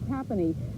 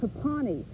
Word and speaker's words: Tapani: got here on Friday we've heard several Atlanta sports casters refer to Kevin Tapani as Kevin Tapani I think tonight they probably figured out how to pronounce his name and a lot